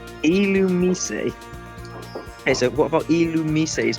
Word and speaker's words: Illumise: It's pronounced Illumise. Illumise.